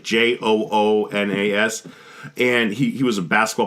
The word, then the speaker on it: Joonas: It's pronounced like Joonas or Jonas, but it's like Joonas.